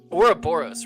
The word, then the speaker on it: Ouroboros: esports 100t versus insomnia uh aura boros right that's how you say it or uh yeah team aura boris yes you are correct well yeah gonna be